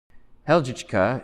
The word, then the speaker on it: Helgichka: Helgichka is my... Helgica. Helgichka. Helgichka. Helgichka. First syllable.